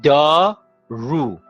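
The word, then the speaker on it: دارو: doru said da ru why do we say oo because it is final it's ooh it's not at the beginning that this this above is pronounced oo because it's at the big at the end of the world there are two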